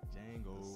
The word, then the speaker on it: Django: Django. Sir Django. All. So, The D is silent.